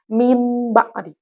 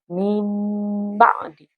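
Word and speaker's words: من بعد: Nah, itu di situ tulisannya adalah min ba'di. Tapi karena di sini ada huruf nun sukun dan tanwi nun sukun bertemu dengan huruf ba, maka nunnya diganti menjadi huruf mim. Jadi cara membacanya adalah mim ba'di.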